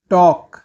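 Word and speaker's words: talk: authorise authorise बात करना टॉक टॉक टॉक में एल साइलेंट होता है मुक्त करना रिलीज रिलीज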